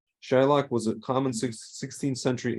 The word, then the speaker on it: Shylock: It is possible that Shakespeare originally intended the name to be pronounced with a short I rather than a long one. In this scenario, the modern pronunciation would have changed because the standard spelling with a Y signifies to readers a long I pronunciation.